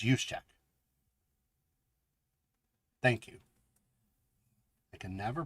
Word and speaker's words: Juszczyk: Kyle, Jusnek. Oh, God. 49ers fullback. I never can pronounce his name. We'll just go Kyle. Good old Kyle. So, congratulations. Ronnie B. for the 49ers. Juszczyk. I think it's Juszczyk.